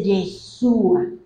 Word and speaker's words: Yeshua: En hebreo se dice Yeshua, y Yeshua tiene las 4 letras con las que se escribe Yu, He, Va, Hei.